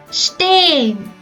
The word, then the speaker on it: stehen: The letter H itself is not pronounced. It's not pronounced stehen, also not like stehen. It's pronounced like stehen.